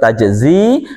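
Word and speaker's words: تجزي: Jadi bacanya tetap tajzi, aslinya tajziyu ya, karena dia berat ya menyandang dhammah maka disukun tajzi.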